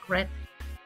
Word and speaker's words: read: el caso de este se lee como si fuera el color rojo red es en presente pero